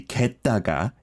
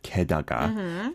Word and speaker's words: 게다가: For me, I I heard like maybe gettaga instead of kedaga.